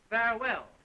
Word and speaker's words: farewell: And now I will say farewell, which, by the way, is the only word in the English language of 2 syllables without an accent, believe it or not.